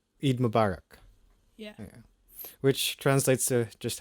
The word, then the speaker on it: Eid Mubarak: To commemorate the festival, I think, okay, I'm going to pronounce this wrong again, but people would greet each other by saying Eid Mubarak? Eid Mubarak. Eid Mubarak.